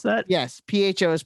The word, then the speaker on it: pho: it is that how you pronounce that yes pho is pronounced so yeah yeah it's not pronounced that